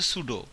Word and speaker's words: pseudo: সুডো class এবং সুডো element, সুডো, PSEUDO, উচ্চারণটা হচ্ছে সুডো।